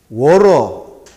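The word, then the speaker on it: water: 자, 영어로는 워러, 해머링. 물을 옛날에 내가 배울 때 워터, 티읕 발음인데 티읕 발음 잘해요. 워러, 뭉개죠.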